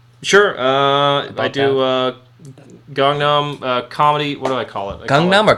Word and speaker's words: Gangnam: like busan or busan i say gangnam like gangnam style isn't that what he says he didn't say kongnam style so i assume that is the correct pronunciation because that's a korean guy saying it right yes i don't know so yeah i i it's gangnam comedy open mic uh